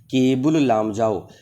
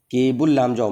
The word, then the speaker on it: केबुल लामजाओ: है जिसका नाम है केबुल लामजाओ केबुल लामजाओ मैं पूरा नाम लिख देता हूं जिससे कि आपको प्रोनंसिएशन में प्रॉब्लम ना हो तो केबुल लामजाओ